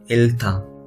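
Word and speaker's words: 잃다: Okay, and another one is real हियत के साथ हमने फिर से रियल ही हम इसमें प्रोनाउंस करेंगे। ओके, और यहाँ पे वर्ड क्या है, इल्था।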